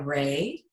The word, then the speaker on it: Rea: name is kind of it will be ray but it's spelt Rea so it looks like hilarious because my mom